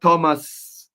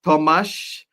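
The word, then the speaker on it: Tomáš: It's not Thomas, it's Tomas Vachlik. I hope I pronounced that one right.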